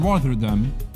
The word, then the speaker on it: Rotterdam: It's double T. Rotterdam. Yeah, Rotterdam. That's how you say it, right?